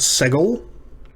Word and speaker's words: segol: This is the short E-class vowel called segol. It's pronounced like the E in better.